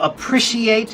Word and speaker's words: appreciate: So for example, appreciate is on the second syllable.